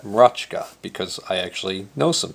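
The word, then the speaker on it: Mroczka: is a name that unless you were polish you would not know how to say m r o c z k a and I happen to know that you pronounced that RKA because I actually know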